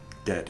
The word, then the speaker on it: debt: Debt is debt. Debt. There's no B.